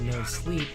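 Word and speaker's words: moSLP: It's pronounced no sleep.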